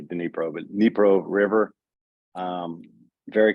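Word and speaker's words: Dnipro: city that's right on the throw oh it's pronounced nepro I say denipro but nepro River um very close to the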